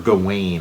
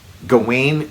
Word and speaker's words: Gawain: So it's whether whichever way you want to hit that W, if you want to give it the sort of V or W. Oh, there's also there's all those there's Gaelic spellings and pronunciations, and then there's Welsh spellings and pronunciations, and I think. At least within the mythology, Sir Gawain. I'll just call him Gawain because that's what I've always called him.